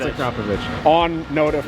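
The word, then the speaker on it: Akrapovič: meet with those guys and they say it's a covich you just say okay it's a cop it's a covich on note of pronunciation how do you say the word g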